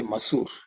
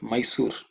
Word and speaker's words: masoor: we buy masoor Dal let's say masoor not Mysore so here is something you know you can see how the words change Mysore is a place to me next one